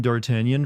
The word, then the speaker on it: D'Artagnan: I've never heard anyone pronounce it as Dartigan, actually. It's based off the French name D'Artagnan from the Three Musketeers, only Americanized.